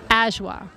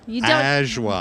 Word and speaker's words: Ashwa: Ashwa. Ashwa. The second A is silent. And this is an Indian name.